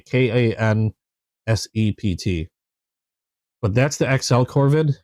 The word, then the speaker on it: Kansept: This is the XL concept Corvid, and concept spelled with a K, Kansept.